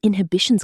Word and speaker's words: inhibition: on stage, all his inhibitions come back. He freezes the moment people are watching. Inhibition. 4 syllables. The stress falls firmly on the second. Inhibition. In connected speech, the last syllable softens.